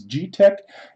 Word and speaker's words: Geeetech: I've got a g-pack I believe that's pronounced GE e tch is G tech e 180 3d printer